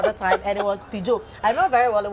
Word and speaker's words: Peugeot: Now, thankfully, our landlord had, you remember those times, it wasn't Peugeot. It was Peugeot. Yeah. It was Peugeot. That was when Peugeot, now modernization has taught us that it's pronounced Peugeot.